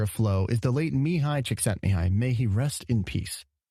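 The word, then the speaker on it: Mihaly Csikszentmihalyi: and the Godfather of flow is the late mihai chick sent me High may he rest in peace that is how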